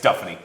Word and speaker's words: Duffany: up to me and was like, yeah, it's Duffany. I was like, okay, I know now. I know I should have done a pronunciation guide to start the season and everything.